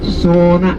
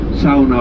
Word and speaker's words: sauna: You know that sauna, S-A-U-N-A, sauna, pronounced in Finnish, that is heated, traditionally using wood, but nowadays of course electricity as well.